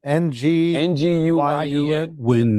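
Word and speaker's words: Nguyen: Ocha and George Noin. How you pronounce it Chris? Vietnamese name. Nu Win is closest.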